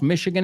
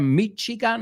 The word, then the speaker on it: Michigan: Acordaos, Michigan in English se pronuncia Michigan or Michigan.